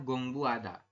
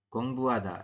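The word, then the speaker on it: 공부하다: tapi anda membacanya adalah gongbu ada a g seperti ini Gong Bua jadi h-nya hilang ya tidak ada huruf H seperti itu huruf h-nya tidak di ba gongbuada nah seperti ini ya gongbada ya artinya belajar ya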